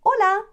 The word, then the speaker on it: hola: vamos hello hi hola it rhymes with lola the h is completely silent another one very very